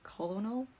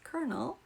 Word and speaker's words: colonel: when I found out the colonel is not pronounced how is spelled like you're telling me this isn't pronounced colonal okay just another curse